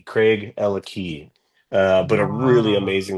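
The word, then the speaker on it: Craigellachie: of people pronounce it Craigalackie, Yeah. but it's Craig and Ella have the key. Craig, Ella Key.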